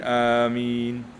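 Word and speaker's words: آمين: Untuk cara bacaan amin ada empat lughah. Ada empat bacaan. Afsahuhunna. Ha dengar ni. Bacaan yang paling fasih, yang paling masyhur. Amin. Amin. Bilmaddi wathfif.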